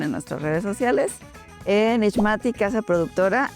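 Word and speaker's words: Ixmati: En ISmati, casa productora. ISmati se escribe i x m a t i.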